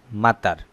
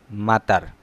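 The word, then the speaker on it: مطر: অবশ্যই খেয়াল করছেন হয়তো, একটা শর্ট সাউন্ড, একটা লং সাউন্ড। শর্ট সাউন্ডের যেটা মাতার, এটা অর্থ বৃষ্টি।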